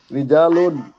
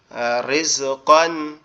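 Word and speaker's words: رِزْقًا: জি, তারপরে হবে রিজকান, রিজ, কিন্তু এখানে রটা কিন্তু মোটা হবে না, রিজ এরকম হবে না, রিস রিজকান, রিসকান, কান না কন, ক দন্তান ন ওয়ান, কন। কন, জি, এরকম কন, হবে, রিসওয়ান, এরকম ক রিজাকন, রিসওয়ান, দন্তান ন কন, রিজকান, রিসওয়ান, রিজকান রিজকান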